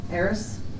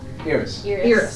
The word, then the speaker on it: Iris: Eris. Iris. Iris. Think like ears, like a rabbit.